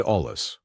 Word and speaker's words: olla: For experienced growers who want to take this further, add ollas. Olla, pronounced olla, is a Spanish word for clay pot and